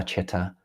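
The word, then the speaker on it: citta: So spelling is C-I-T-T-A, although it is pronounced in English C-H, Chitta. Modern day teachers, you talk about the Chitta, the mind.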